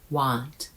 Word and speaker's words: want: Because won't has a hard O sound. O won't. want has a soft o sound a want.